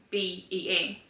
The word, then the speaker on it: Bea: B-E-A. Her nickname is spelled B-E-A, but they pronounce it Bea, and I didn't like that.